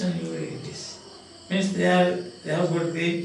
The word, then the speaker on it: Euryalus: The pronunciation is very interesting now. Euryalus.